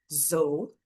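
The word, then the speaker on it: though: E aí é como se fosse aqui um z no lugar do s que eu falei, né, no outro exemplo. z Só que agora o o tem o som de ou. Então sou, você fala como se fosse zou, o z com a língua presa no céu da boca.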